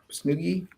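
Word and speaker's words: Snowgies: these called snookies Snuggies it rhymes with Boogie so snooky they're basically what happens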